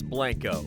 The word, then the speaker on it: Blanco: is properly mispronounced as Blanco very different from Blanco the Spanish word for white as this town is